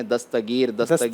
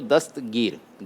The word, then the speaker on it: دستگیر: ناظرین بھی بعض اوقات اس میں تلفظ میں لوگ غلطی کرتے ہیں، دستگیر کہتے ہیں، تے پر بھی زبر لگا دیتے ہیں، ہے اصل وہ دستگیر، دست یعنی ہاتھ اور